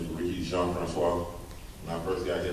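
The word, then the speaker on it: Jean-Francois: say my name right everybody said John Francisco when I finally got I got around people people I started people saying John Fran Squad I was like that's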